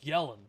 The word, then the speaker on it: Yelan: ] crown first oh the way you say her name is yellen yolon yellin yelan it's yelling bro it's yelling you just got it